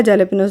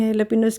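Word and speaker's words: jalapeños: क्योंकि लिखा जेलपिनोस जाता है। तो मैंने किसी वॉग में जेलपिनो कह दिया तो मुझे इतने सारे नीचे लोगों के कमेंट्स आए कि नहीं हेलपिनोस कहते हैं जे साइलेंट होता है।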